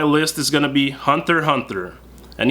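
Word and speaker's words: Hunter x Hunter: is going to be Hunter Hunter and yes you do not pronounce the x Hunter Hunter is also an adventure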